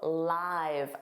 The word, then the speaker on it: live: Now, live, notice that pronunciation. Live is a verb. Of course, this means having life or having a home somewhere. He lived, past simple, for 10 years after the accident. So he remained alive. Or, to talk about your home, I live in Canada, of course. Now, what about live? Notice that pronunciation, live, I've.